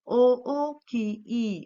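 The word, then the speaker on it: おおきい: सबसे पहले तो एडजेक्टिव है ओ ओ की ई, ओके। सो ओ की इसका इस तरह से उसका प्रोनाउंसिएशन है।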